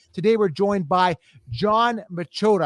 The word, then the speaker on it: Machota: Today, we're joined by Jon Machota. Am I pronouncing that right, Jon? Yeah, Machota, it's fine. Machota. Close enough.